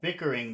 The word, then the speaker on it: bickering: kids bickering okay and bickering that's three syllables which syllable has all of the sound baking baking baking baking baking the kids were bicker Bing the kids were bicker the kids were bickering the kids were bickering